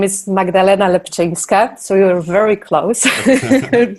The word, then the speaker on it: Magdalena Lepczynska: Chris for the introduction so my name is magdalena lapchang scott so you were very close congratulations on pronunciation and I'm polish I live and work